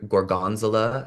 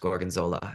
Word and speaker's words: Gorgonzola: And I sat beside her and I ordered Gorgonzula. And then she was like, "It's pronounced Gorgonzola."